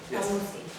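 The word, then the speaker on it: El Moussi: Al-Musi. Exactly. Please state your name, spell your last name. it's spelled S-O-U, F as in Frank, I-A-N-E, and the last name is Al-Musi, E-L, Okay, start again.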